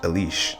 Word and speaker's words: Alice: it called Alice well it's spelled Alice but apparently according to the notes it's pronounced Alish so yeah obviously this